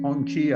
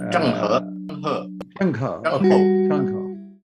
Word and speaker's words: Zheng He: The famous Admiral Hong Chi, I think was his name, if I'm correctly pronouncing it. No, Zheng He. Zheng He, okay.